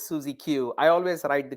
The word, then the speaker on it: SuzieQ: hear yourself yeah so the way you pronounce it is susie q i always write the